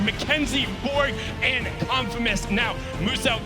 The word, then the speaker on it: Muso: Now, Muso wants you to know his name is pronounced as Muso, the Australian-based content creator down there.